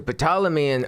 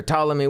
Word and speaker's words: Ptolemy: when he goes to patalaman or Ptolemy whatever there's a silent P maybe silent P you know what I